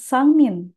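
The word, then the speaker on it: 三人: Jadi mulai dari hitungan ketiga, bilangan ditambahkan dengan kanji orang, maka bagian kanji orangnya akan dibaca dengan nin, sangmin.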